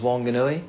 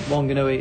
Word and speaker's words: Whanganui: The original spelling was Whanganui since 1837 when it was first transcribed.